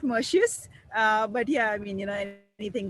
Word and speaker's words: Merxius: I mean, we call it Mercius, but yeah, I mean, anything goes.